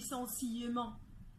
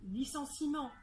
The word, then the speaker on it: licenciement: في E موجود فيه، مع ذلك ال E ده مش بننطقه، احنا مش بنقول licenciement، احنا بنقول licenciement.